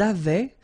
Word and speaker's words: avaient: Ils avaient. So remember, even if we've got this A-I-E-N-T, well, we don't pronounce it, or we don't pronounce this E-N-T, so we get avait, okay, phonetically.